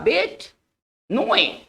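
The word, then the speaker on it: bête noire: पढ़ेंगे बेट, बेट, ठीक है, नोए, इसका जो उच्चारण होगा बेट नोए, ठीक है ना। देखिए बेट नोए क्या होता है, ये वैसे व्यक्ति होते हैं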